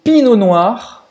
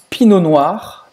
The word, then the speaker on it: Pinot Noir: O famoso Pinot Noir. Pinot Noir. Pinot Noir. Não pronuncia o T no final, Pinot Noir, geralmente da região da